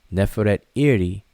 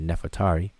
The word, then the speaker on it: Nefertari: The Osiris, or Wasir, the great queen, lady of the two lands, Neferet Iri Meret Nimut, which is the name Nefertari, Neferet Iri, but people pronounce it fast and say Nefertari.